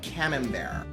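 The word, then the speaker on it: Camembert: But I recommend for your third get either Bri or Cam Bear. It's spelled Cambert, but Cam Bear.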